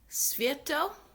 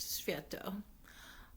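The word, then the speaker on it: Światło: The key player was a man named Joseph Sviatlo. It's spelled Swiatlo, which I think is pronounced Sviatlo.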